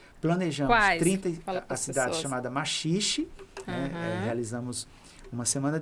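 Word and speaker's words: Maxixe: Planejamos 30 a cidade chamada Maxiche, né? Eh, realizamos uma semana de intervenção na cidade da Maxich, a gente chama cidade da Maxiche, lá eles pronunciam a si mesmo, a Maxicheixe, né?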